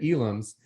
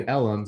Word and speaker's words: ELIMS: So I said Elams. She's like, it's actually Elims, and I'm like, oh, okay.